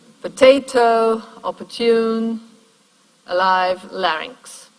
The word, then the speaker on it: larynx: one more remark on the word larynx two syllables and the second syllable is actually a strong syllable right ranks short vowel but a pretty strong coda there yeah and so probably